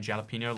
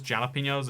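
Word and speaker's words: jalapeño: I was horrified you pronounced the J in jalapeno like a J and not a H.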